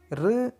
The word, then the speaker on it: ऋ: बच्चों यहाँ पे ध्यान दीजिए, ऋ वर्ण संस्कृत से आया है। इसे हम उच्चारण करते समय री के ध्वनि से उच्चारण करना है।